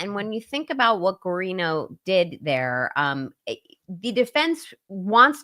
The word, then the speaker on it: Guarino: By the way, I saw someone in your chat saying Guarino is Italian. I know that, but the way Will pronounces it is actually how a Latino person would pronounce it.